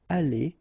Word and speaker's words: allés: The good thing, as usual in French, is you will pronounce it aller, aller, aller, and aller. So technically you don't pronounce the final you don't pronounce the final s, and you don't pronounce the final es, but still you should write them.